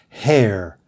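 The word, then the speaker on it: hare: of fur number four these two words are both pronounced hair write them down a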